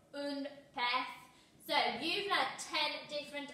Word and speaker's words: pez: And your fish, now remember that sound at the end is different. Un pez. Un pez.